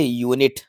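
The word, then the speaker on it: unit: भी देख लीजिए तो बच्चों इसको पढ़ा जाता है यूनिट क्या पढ़ा जाता है यूनिट जो कि हमें या का साउंड दे रहा है और या एक कंसोनेंट साउंड है तो यानी कि यूनिट वर्ड से हमें कंसोनेंट साउंड मिल रहा है जो कि या का मिल रहा है मैंने इससे पहले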